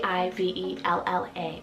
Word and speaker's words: Ivella: name here is the name ivella spell a i v e l l a ivella and this one means butterflies then we